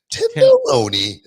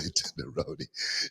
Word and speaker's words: tenderoni: Tenderoni. I gotta say it like that too. You can't just say tenderoni. You gotta go up with the hot and then bring it down.